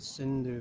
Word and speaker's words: Sindhu: But Hindu, the word, is just a mispronunciation of the word Sindhu from the river.